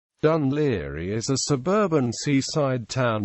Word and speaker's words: Dún Laoghaire: In some cases, the old anglicized spelling Dunli DNL area is seen. This is also how the town's name is commonly pronounced.